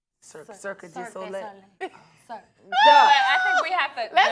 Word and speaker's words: Cirque du Soleil: Circus de Soleil. Cirque du Soleil.